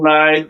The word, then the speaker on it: Lied: Elfen Lied or Lee, depending on how you pronounce it.